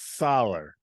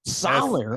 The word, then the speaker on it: Soller: It's Solar. Solar.